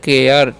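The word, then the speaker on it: care: जाता है ठीक है तो यहां पर क्या करेंगे उसका उच्चारण हम देखिए क्या करना है ध्यान से समझिए सी कारण कर क ए आ एर तो क्या हो जाएगा केयर ठीक है और केयर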